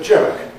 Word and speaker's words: joke: Now, Spanish people on the whole can make both of these sounds, but the problem is that they treat j as an emphatic variety of y. And of course, that's not how it works in English.